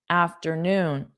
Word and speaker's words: afternoon: So you hear the word noon more than after. After is two sounds after.